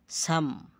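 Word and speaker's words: psalm: এরপর এম এরপর থাকলে এল প্লাস এম থাকলে পরে ভাওয়েল না থাকলে এল অনুচ্চারিত থাকে যেমন কাম কাম এল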